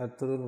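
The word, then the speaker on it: Ertuğrul: It’s correct pronunciation in Turkey language, is er-tu-rul ghazi because G is silent.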